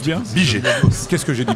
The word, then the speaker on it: Bigey: Je prononce bien? Biget. Qu'est-ce que j'ai dit? Briget, non, Biget.